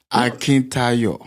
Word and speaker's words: Akintayo: Tell me how to say it. Akintayo. Akintayo. Yeah, Akintayo. He told me to say it like I'm bring it to saying. Nigeria. He actually did well. Yeah, he did. Akintayo. Yes. Absolutely. He said, he told me, he tried to teach me to say it like I'm singing.